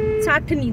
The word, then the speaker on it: ছাতনি: তো এইখানে একটা জায়গার নাম লেখা ছিল দেখলাম ছাতনি, তারপরে দেখলাম বাংলাতে ছাটনি কিন্তু ইংলিশে ছাতনি, বাংলাতে ছাতনি, বাট ইংলিশে স্পেলিংটা যদি উচ্চারণ করা হয় চাটনি হয়ে যাচ্ছে।